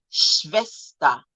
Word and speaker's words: Schwester: Ich habe eine Schwester. Remember, W is V. Ich habe eine Schwester und einen Bruder. Sie sind beide verheiratet, verheiratet und haben auch Kinder. Meine Schwester und Nichte leben in Köln.